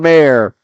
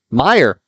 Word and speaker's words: Meyer: 2 points from Mayer. Meyer. There we go. Listen in, and you get to hear the proper way to pronounce it.